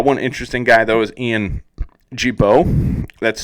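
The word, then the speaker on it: Gibaut: the needle uh one interesting guy though is Ian Jibo that's spelled g-i-b-a-u-t uh he just picked up a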